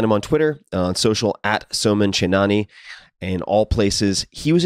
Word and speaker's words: Chainani: this one it is a conversation with s chenani and I'll spell that for you s o m an c